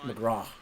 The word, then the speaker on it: McGrath: Now, his last name is spelled McGrath, but it's pronounced McGraw.